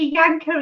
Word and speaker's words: Yanka: Yanka is here, as in give her a good pull, as in rhymes with banker.